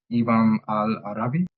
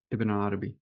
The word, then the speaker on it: Ibn Arabi: And it helped me with the pronunciation. It's Ibn al-Arabi. Yeah, Ibn Arabi.